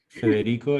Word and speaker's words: Federico: Federico is the way I would pronounce it in Spanish.